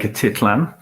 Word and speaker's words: Atitlán: And thereafter on to, how do we pronounce this? So this is Lake Atitlán.